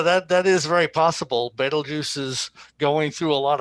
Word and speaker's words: Betelgeuse: betelgeuse actually what people like to call it beetlejuice but the correct pronunciation is betelgeuse careful don't say that don't say it three